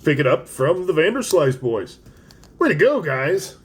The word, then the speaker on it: Vanderslice: is a wonderful invention from the Vanderslice brothers pronounced Vanderslice this is really cool so these are 3d